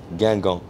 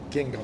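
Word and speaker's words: Guingamp: How do you pronounce your former club's name? Gangan. Gingham. Gangan. Okay. Yeah, Gangan.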